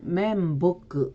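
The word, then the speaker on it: 面目: 일본어 발음을 확인해 보면 목표는 모크효, 면목은 멘보크 이렇게 발음이 됩니다.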